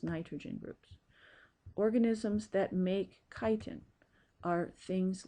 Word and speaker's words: chitin: Notice how it's spelled. It looks like chitin, but it's pronounced chitin.